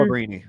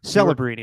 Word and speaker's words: Celebrini: Celebrini. Celebrini. You were close. I just thought you mispronounced it.